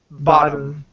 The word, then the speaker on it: bottom: uh bottom okay but when you say the flap T you have to hit the top of your mouth very strongly okay like you're saying